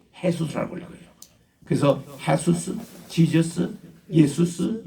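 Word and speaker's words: Jesús: 우리 한국에서는 예수라고 번역하고 영어에서는 지저스라고 발음을 읽고, 그리고 이거를 꼭 같은 말인데 JESUS는 스페니시는 이 J 발음을 H로 읽어요. 헤수스라고 읽어요.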